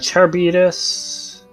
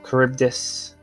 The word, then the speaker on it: Charybdis: would be okay and cherrybeaders or charybdis as it should be said i just say it wrong for some reason i